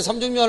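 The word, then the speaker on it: 삼죽면: 자, 일단 삼중면 할 때 요 분명히 소리가 어떻게 나냐, 미음을 봐서 앞에 기억이 비음화돼서 이런 식으로 소리가 납니다.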